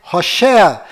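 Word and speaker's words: הושע: Mas a pronúncia correta de Oséias é Hoshea.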